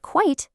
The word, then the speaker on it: quite: Quiet has two sounds, two syllables. Quiet. That means no noise. But quite has just one sound, one syllable. Quite. And that means fairly or rather.